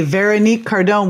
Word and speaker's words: Veronique Cardon: Okay, Veronique Cardon, welcome to the show.